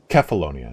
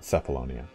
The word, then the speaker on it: Kefalonia: that meet the spartans it's actually called kefalonia not cephalonia oh okay this is